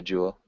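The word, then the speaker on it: joule: Um yeah, in in the US it would be a jewel.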